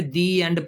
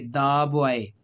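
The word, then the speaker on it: the: में रखनी है कि अगर तो वोवेल से पहले पढ़ेंगे तो दी है। अब ये इ आपको पता है एंड का इ क्या है? पहला लफज़ वोवेल है ना? तो अब यहां पे दी एंड पढ़ना है इसको। लेकिन अगर कंसोनेंट बी क्या है? आपको पता है कोंसोनेंट है। तो अब यहां पर द पढ़ेंगे। द बॉय। ठीक है? कंसोनेंट से पहले यह दा होता है।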